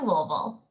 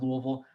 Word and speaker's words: Louisville: This is the University of Louisville. We are named after our city. Louisville is the largest, metropolitan area in Kentucky. You can pronounce it Louisville.